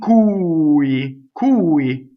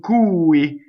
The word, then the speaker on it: cui: In cui, right? The accent is on the U. In cui, and it's up here, right?